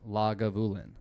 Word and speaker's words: Lagavulin: did you know that lagavulin is like one of the very few scotches Scotch distilleries that is actually pronounced the way it looks like it's pronounced like a lot of